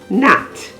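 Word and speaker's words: gnat: usually silent examples are cosine c-o-s-i-g-n rain r-e-i-g-n nat g-n-a-t no g-n-a-w gnome g-n-o-m-e h is usually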